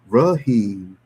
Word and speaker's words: Raheem: Call me Raheem. But where I was staying at was very mixed population. And for some reason they just would butcher that Raheem. It's two syllables I think. Rahheim. Rahheem.